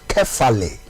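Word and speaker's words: κεφαλή: Ye ba apamfufuro mu a sa kasa head no Greek kasam no ye pronounce no kefale.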